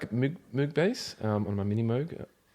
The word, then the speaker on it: Moog: Yeah, I feel like I'm being more pretentious saying Moog. It's Moog, weird. It's kind of like Moe and Moet.